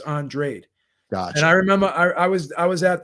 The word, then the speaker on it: Andrade: viridian and uh because because andrade is how you would pronounce it if spanish but he's cape verdean so it's andrade gosh and i remember